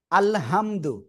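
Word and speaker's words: الحمد: আমি লিখতেছি এটা বুঝাতে হবে আমাদের সবাইকে আল আলহামদু এটা আমরা পড়বো তাই না? কিন্তু এই যেটা বললাম আপনাদের যে এখানে এই হাটা আমাদের উচ্চারণ করতে হবে কেমন?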